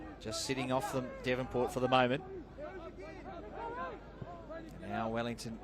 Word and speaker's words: Devonport: made apparent to me that I was saying Davenport in that first half it's your Melbourne yeah